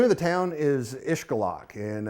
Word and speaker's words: Xcalak: It's when it precedes a consonant, as in this case, it's pronounced ish.